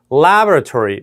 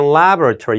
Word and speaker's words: laboratory: laboratory, 미국 발음일 때는 laboratory, 영국 발음일 때는 laboratory로 두 번째 bo의 액센트가 가는 겁니다.